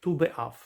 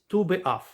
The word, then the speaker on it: Tu B'Av: And Tes and Vav is pronounced Tu. So hence Tu B'Av.